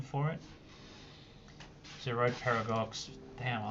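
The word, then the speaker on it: Girard-Perregaux: Gerard Paragox. That's the correct pronunciation for it. Zerod Parag.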